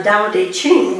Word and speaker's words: Tao Te Ching: Now, the Tao is based on the Tao Te Ching, which is pronounced with a D, not a T, and credit is given